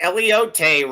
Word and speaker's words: elote: Mention Mike Luke for a free Elote rib. Is that how it's pronounced?